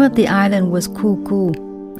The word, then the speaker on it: Kuku: of the island was Kuku it's spelled k-u-k-u it was actually cuckoo Beach just a section